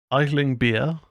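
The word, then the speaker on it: Aisling Bea: and written by Nick Frost who stars alongside idling beer that's how it's pronounced Sebastian Croft and Maisy airs the film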